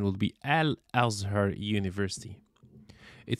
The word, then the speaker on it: Al-Azhar: different imamihab has three different bachelor degree from Azure Universe University Azhar University in fact the right pronunciation would be al-azhar University it says it's Egypt's oldest degree granted